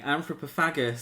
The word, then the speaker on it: Anthropophagus: The film we've been calling Anthropophagus. What did you just call me? And then recently found out it's pronounced anthropophagus. Yes, but it'll always be anthropagus.